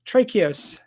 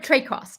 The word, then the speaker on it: Traicos: i got that correct almost it would tr trey cross but yeah no no it's straightforward i apologize don't apologize